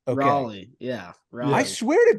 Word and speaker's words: Raleigh: It's really it's pronounced raw, R-A-W dash Lee. Raw Lee. Okay. Raleigh.